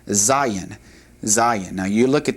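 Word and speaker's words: זין: And so uh that's another one that is fairly easy to remember and pronounce. Zion.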